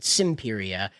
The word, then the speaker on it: Semperia: Now, they pronounce it Simperia, which is S-I-M-P, it's S-E-M-P, but like simplify, it's very stupid.